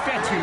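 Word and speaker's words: Fetu: and down he goes so coach fettu spelled f-e-t-u for the longest time i was pronouncing it coach fedo like feta cheese so let's just say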